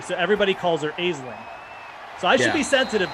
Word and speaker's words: Aisling: And one of them is Aisling. Like Ash. Ashlyn, you mean? Aisling, like L-I-N-G, but it's spelled A-I-S-L-N-G. So everybody calls her Aisling.